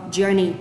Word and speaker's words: journey: Nói âm of a, the start of a journey. Journey, nâng lưỡi lên ạ. Có chữ R nâng lưỡi lên. Journey, được chưa ạ?